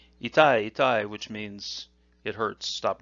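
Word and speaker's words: 痛い: The Japanese reading is itai, and the parentheses there indicate that ending may change depending on usage.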